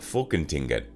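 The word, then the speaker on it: Folketinget: of Denmark 33 the Danish Parliament is called fulkentinget pronounced as fulkenting and can consists of 176 members 34.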